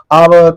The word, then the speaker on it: hour: always a oval sound so H is silent the next sound is oval sound and we are pronouncing this word from this o o is a wal sound and therefore we use an before that so here ourly report